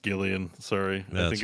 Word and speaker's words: Gillian: name is actually pronounced Gillian sorry I think it's her name is Gillian Jacobs Jacobs yeah different one but you say it with a hard G not a Jillian I didn't know Henry